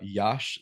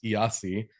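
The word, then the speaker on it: Iași: in front of them when I said uh, Yash, that is the city spelled I ASI, which I initially thought was spelled or pronounced Yasi, but yeah, I don't speak Romanian obviously.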